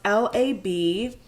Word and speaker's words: labradorite: It's pronounced Labradorite.